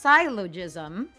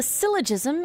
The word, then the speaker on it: syllogism: The my guess is this is pronounced silogism or no not gizzmom. I don't syllogism. Okay. Like syllable in pronunciation.